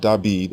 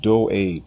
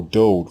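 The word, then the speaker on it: דוד: The king's name is not David as it appears in the Greek New Testament. It is not David. It is not Dawid. His name is pronounced Doed, or Dode for short.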